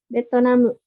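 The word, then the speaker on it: ベトナム: Betonamu. Betonamu. Ini dari he ya, he-nya hiragana sama katakana kan gak beda nggak ada bedanya ya, sama aja. Terus tambahin teng-teng lagi, jadinya B ya dibacanya nih betonamu.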